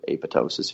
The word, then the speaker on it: apoptosis: bit but autophagy and apoptosis or apotosis if you want to say it the alternative pronunciation are basically the way